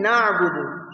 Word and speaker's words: نَعْبُدُ: The ain in na'budu should be pronounced softly without excessive pressure on the throat.